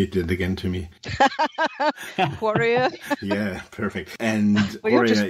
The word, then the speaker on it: Quareia: Quareia?